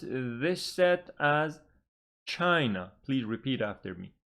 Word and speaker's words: China: for example chai no it's got two syllables but the stress is on the first Sy because the first one is bigger and so we pronounce this set as China please repeat after me